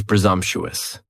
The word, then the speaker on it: presumptuous: Next is presumptuous. And presumptuous has 4 syllables. And the stress is on that second syllable. And the S almost sounds a little more like a Z.